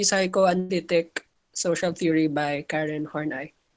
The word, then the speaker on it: Horney: social theory by karen hornai some pronounce it as horny but yeah that's it